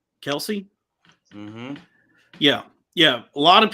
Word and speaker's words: Kelce: Kelce.